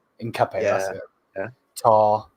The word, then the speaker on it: Hincapié: Hincapié. Hincapié, Yeah, that's it.